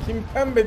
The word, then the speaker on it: Kimpembe: Stopper Paris Saint-Germain'den Kimpembe diye okunuyor galiba, evet.